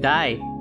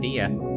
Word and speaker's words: Dia: Like Di instead of Dia.